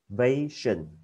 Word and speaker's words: salvation: Salvation. Ok, sao nhớ đọc chữ L các bạn nhé. Sa xong thêm chữ L nó vô, sao salvation.